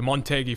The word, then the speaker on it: Motegi: crucial and of course you're pronouncing it correctly the montei for those who are